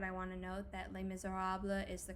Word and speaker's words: Les Misérables: the future but i want to note that les miserables is the correct pronunciation regardless of what the producer cameron macintosh